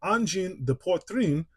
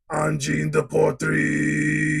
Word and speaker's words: Angine de Poitrine: Anyway, this right here is the brand new album from Angine de Poitrine, or as these two would pronounce it, Angine de Poitrine.